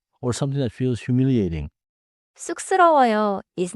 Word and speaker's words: 쑥스러워요: Now 쑥스러워요. The first syllable has the double consonant 쌍시옷, so it starts tight. 쑥스러워요.